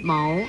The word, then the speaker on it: 繆: 国语注音是谋二声谋，么欧谋二声谋。